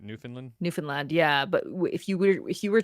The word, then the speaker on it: Newfoundland: That's how you pronounce it, right? Newfoundland, yeah. But if you were to read it like phonetically, it's Newfoundland.